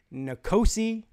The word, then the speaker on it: N'Kosi: at N'Kosi Perry, and I finally learned how to say the guy's name correctly, and so you will never hear me mispronounce it again. N'Kosi Perry.